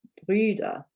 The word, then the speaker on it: Brüder: So this is one of those where I said when it's a plural, you have an umlaut and it changes the pronunciation and it lets you know that it's a plural.